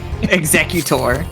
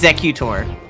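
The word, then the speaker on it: Executor: Exeutor. It's It's Exeutor.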